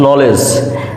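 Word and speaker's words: knowledge: প্রচলিত সবচেয়ে পরিচিত আমাদের একটি শব্দ যেটা হচ্ছে নলেজ দেখেন নলেজ বানানেও কিন্তু ডি আছে এন কে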